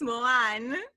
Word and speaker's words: Moran: joining me please say your name because i'm mispronouncing it for sure okay i so it's moan m-o-r-a-n-1 okay yes yes great so how is